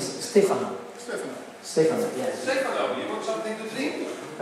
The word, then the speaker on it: Stefano: But all the foreign people say Stefano. But in Italian is Stefano.